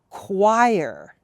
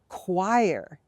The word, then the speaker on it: choir: as difficult as the next word which is choir choir if you sing with a group of people